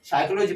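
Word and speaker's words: psychology: पढ़ रहे हो इसको साइकोलॉजी पढ़ रहे हैं की 20 cycloji पढ़ रहे क्या पढ़ रहे हैं साइकोलॉजी ठीक है तो इसमें हमारा पी है वो क्या है हमारा साइलेंट है उसका प्रनंसीएशन नहीं हो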